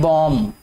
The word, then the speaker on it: bomb: ठीक है बेटे, इसमें जो B है ये वाला, ये साइलेंट है, इसको पढ़ते हैं बॉम्ब।